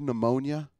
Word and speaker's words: pneumonia: ever heard the word pneumonia you ever noticed that the word pneumonia is spelled with a P in the front of it pneumonia comes from the